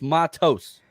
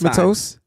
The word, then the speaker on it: Matos: And then it's TOSE. That's pronounced toast. Toes. So it's not toes. It's toast. Right? Because if it was toes, it would be TOES. Gross Matos.